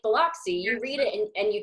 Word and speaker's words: Biloxi: Yeah, it's Biloxi, and I don't know why people can't say that word, but yeah, my agent has never been able to pronounce it. I'm just like, I'm like, Lux, L-U-X.